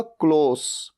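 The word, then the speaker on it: close: एल ओ एस ई क्लोज बंद करना और सी एल ओ एस ई एक और सेम वर्ड है सेम स्पेलिंग लेकिन बोलने का तरीका होगा क्लोज स आएगा लास्ट में लेकिन तब इसका मतलब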